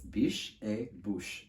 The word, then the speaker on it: Biche et Bouche: But as soon as I saw Amy, I was like, how do you say this brand? Because it's in French, I think. And she immediately was like, it's Biche et Bouche, Biche et Bouche.